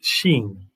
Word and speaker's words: Shin: 20 means judgment but it's actually called shin although it's pronounced sheen and it means tooth